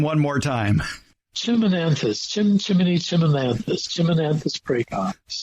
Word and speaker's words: Chimonanthus: fits that bill it certainly does go ahead pronounce that botanical name one more time chimonanthus Chim chimy chimonanthus chimonanthus pre winter sweet we'll